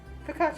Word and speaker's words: focaccia: Focaccia is kind of rustic anyway. That's how it's pronounced.